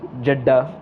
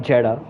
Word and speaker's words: Jeddah: We are at Jeddah, and as I've been corrected before by someone, it's Jeddah, not Jeddah. It's like Jeddah. More like Chadda.